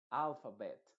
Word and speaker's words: alphabet: En este caso, esta ET se pronuncia tal cual, esa E se va a pronunciar como una E, se va a decir alphabet, outlet, quartet, o quartet más bien, quartet.